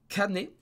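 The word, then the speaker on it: kane: kanji de l'argent de la monnaie qui se prononce canet mais quand tu dis cannes et ça ça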